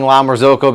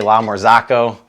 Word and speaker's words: La Marzocco: using the la marzocco i'm saying la marzocco because i've been getting grilled in my comments when i say la mor zako and it's making people cringe because it's pronounced from risotto all right let